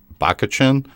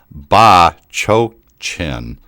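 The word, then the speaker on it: Bachochin: And I'm like, wait, it's not Bakachin? He's like, no, it's actually pronounced Ba-Cho-Chin. I'm like, He's like, well, just remember, something like, Bitch Ocean.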